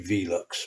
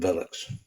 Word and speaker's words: Velux: you know like I'm sure it should be Velux but everyone calls them velox and officially these are actually ammo I think